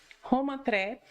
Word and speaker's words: Roma Tre: Isso, a Roma pronúncia? Tre. Roma Tre, Sorbonne, França, Sorbonne.